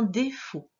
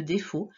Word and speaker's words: défaut: Il y avait un T à la fin de défaut, mais on ne l'entend pas.